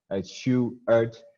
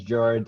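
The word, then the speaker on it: Sjoerd: screen for you guys a shoe art not as jord or anything like that it's always a good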